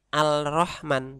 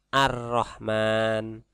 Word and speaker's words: ar-Rahman: Ada alif lam ketemu huruf ro, maka dibacanya bukan al-Rahman tapi ar-Rahman.